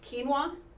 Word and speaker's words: quinoa: and slowing it down okay so acceptable grains quinoa if you don't know what that is it's spelled q i n o a and it's